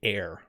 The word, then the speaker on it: heir: ham and hem thanks so air and air are pronounced the same way we breathe air right